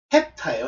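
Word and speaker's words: ἑπτά: 근데 정확하게 발음은 에타가 아니고 헵타예요. 헵타. 여러분들 모노, 디, 트리, 테트라 이렇게 나올 때 이 7을 뭐라 하냐면 헵타라고 그러잖아요.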